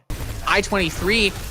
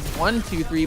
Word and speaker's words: I-23: I-23, I've been saying their name wrong as 123, but they just seem so darn good.